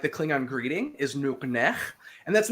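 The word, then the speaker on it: nuqneH: Remember the lowercase q, k, and the uppercase h, nuknech.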